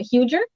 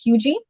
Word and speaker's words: Huger: look on the map it looks like a huger or huger but it's actually pronounced hugey um and mount pleasant